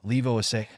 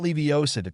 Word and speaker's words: Leviosa: It's Wingardium Leviosa, not Leviosa, drawled Ron.